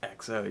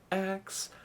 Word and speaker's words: XO: It was just like, and you can't say it like EXO, you gotta say it like XO, but the reason, I